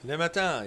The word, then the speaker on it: Le Matin: And the Paris newspaper, Le Matin, did I pronounce that right? Le Matin, yes.